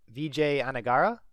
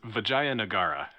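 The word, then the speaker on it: Vijayanagara: talking about is called VJ anara believe I pronounced that correctly nope you're braver than I am well okay soie please correct my pronunciation yes it's vagay nagara okay and also the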